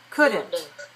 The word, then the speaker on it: couldn't: wood could and should that L is a silent letter so don't pronounce l just like like wood